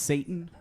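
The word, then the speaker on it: Šatan: I believe it was pronounced Satan.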